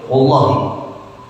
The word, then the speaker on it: wallahi: Kalau orang Arab mau sumpah pasti ucapinnya wallahi.